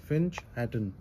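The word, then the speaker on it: Finch Hatton: इसका pronunciation फिंच हैटन.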